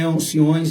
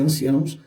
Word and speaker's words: anciãos: Porque não é anciões, embora a gente pronuncie assim, a Bíblia é anciãos.